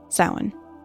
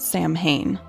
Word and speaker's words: Samhain: maybe heard it pronounced Sam Hayne. That would be the incorrect pronunciation. See, in Gaelic, the mh makes either a V or a W sound. In this case, it's the W.